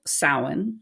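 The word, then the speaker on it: Samhain: time of year called sa which is spelled like Sam ha if you are trying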